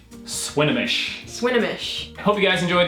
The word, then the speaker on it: Swinomish: This city is pronounced Swinomish. Swinomish.